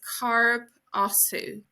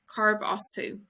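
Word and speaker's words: Cá as tú: Where are you from is Carb Osu. Carb Osu.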